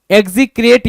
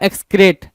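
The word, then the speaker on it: execrate: तो इसमें आपको देखने को मिल रहा है क्या, डिस्पाइज, डिटेस्ट, लोएथ, एबोमिनेट और एग्जीक्रेट या एक्सक्रेट। एग्जीक्रेट कुछ लोग पढ़ेंगे, कुछ लोग एक्सक्रेट बोलेंगे, दोनों सही है।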